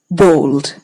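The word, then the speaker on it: bald: The word is pronounced bold.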